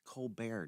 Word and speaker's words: Colbert: It's Co Bear, Josh.